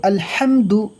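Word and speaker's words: الحمد: আসেনি মিমও আসেনি তো এখানে মিম সাকিন গুন্না হবে না একদম স্যাম্পল ভাবে পড়তে হবে আলহামদু আলহামদু এখানে যে হা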